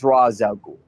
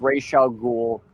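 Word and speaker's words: Ra's al Ghul: So, it's it's Razul. I know sometimes it's pronounced Ray Sha Ghoul and I don't really have an issue with that, but Raz is always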